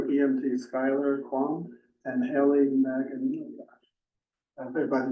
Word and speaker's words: Magan: Say it again? The G is silent.